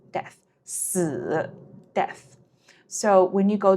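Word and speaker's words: 四: si OK why because it is the same pronunciation as this word it means death death si death so when you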